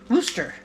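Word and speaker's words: Worcester: call it rooster sauce I think that's how they pronounce the town in Massachusetts roer roer woster I think they call it woster mass woster mass we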